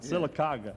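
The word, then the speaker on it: Sylacauga: In fact, I mean, do you ever get back to Silicer? Am I pronouncing it right? That's right. Silicaga.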